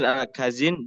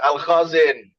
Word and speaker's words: Al-Khazin: Al-Jalalain, tafsir Al-Baidawi, tafsir Al-Kazin, dan lain sebagainya. Bahwa penafsiran Al-Khazin mungkin ya. Bacanya Al-Khazin.